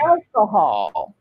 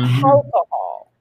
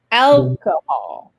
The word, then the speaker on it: alcohol: No H. Not alcohol. Alcohol. Vous avez l'accent tonique sur les 2 premières lettres. Le souci, c'est que nous, francophones, on a tendance, quand un mot, surtout quand il est porteur de l'accent tonique sur la première syllabe et qu'il commence par une voyelle, on a tendance à faire un H alors qu'il n'y en a pas.